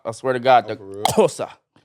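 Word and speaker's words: Xhosa: I swear to God, the Kosa. That's how you say it. You spell it with an X, and the X is the click.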